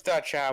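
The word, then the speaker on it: Da-chao: But yeah, their banner comes from Yuffie's hometown, the Dai Chao statue. Well, it's yeah. Da Chao or Dai Chao or however you pronounce No, it. it's Da Chow, but yeah, I mean, yeah, it's part of her old side quest anyway.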